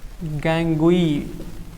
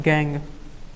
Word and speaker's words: gangue: इसको एक और भाषा में ना हम इसको गैंग बोलते हैं, गैंगुई, GANGUE, स्पेलिंग होता है GANGUE, उसे को हम क्या बोलते हैं, गैंग बोलते हैं।